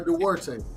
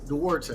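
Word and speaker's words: Duarte: Oscar Darte. How you say his name? Oscar Dwarte. Dwarte.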